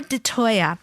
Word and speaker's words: DeToia: that she engages in her name is de toya am i pronouncing your name correctly yes okay de toya she's a reiki two practitioner and her company